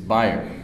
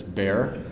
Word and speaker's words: Bayer: good reliable source that the proper pronunciation of this German company is buyer but it's perfectly acceptable to pronounce it as bear in North America right